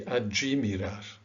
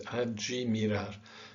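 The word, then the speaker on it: admirar: Okay, and it is actually pronounced, interestingly and strangely, adjimirar. This word is adjimirar. So you've actually added a J and an I, not just one letter, to this word.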